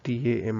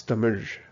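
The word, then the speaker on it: Tamizh: say t m i l at the actual pronunciation is t a m i z h so it's Tam right that's why you keep hearing me say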